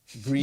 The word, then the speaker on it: Gruene: Yeah, the X is silent. Gruene. Gruene. Green.